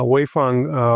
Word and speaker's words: Waifun: Uh, Wayang, uh, welcome to the show. How, how did you like my pronunciation of your name?